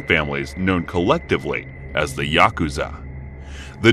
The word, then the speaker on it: yakuza: cards to draw are eight nine and three pronounce yaku Za in Japanese the implication being that